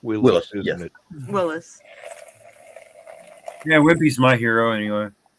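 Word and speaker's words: Willys: Willies Jeep Willis no it's spell Willis it's pronounced Willis yeah whippy's my hero anyway gladly pay you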